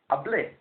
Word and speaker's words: hablé: need to do is to change the ending, but at the same time stress the last syllable. He, she, it spoke, you spoke, formal one person, habló, I spoke, hablé.